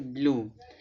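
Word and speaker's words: blue: यहाँ देखिए, जब किसी वर्ड के लास्ट में यू ई आए तो यू का उच्चारण बड़ा ऊ होगा या तो यू होगा। ठीक है, जैसे ब्लू, इसको ब्लू पढ़ते, ब्लू माने नीला।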